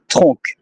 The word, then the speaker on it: tronc: all the letters, like TRONC. If I have to pronounce it in English, it will be tronc. But in French, it's tronc, and it's a word from the tree.